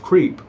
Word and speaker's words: CREEP: an organization called creep CRP pronounced creep and in creep stood